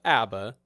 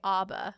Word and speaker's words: ABBA: to start by talking about the history of ABBA the music group and yes I looked it up that is how it's actually pronounced I found a video it's the original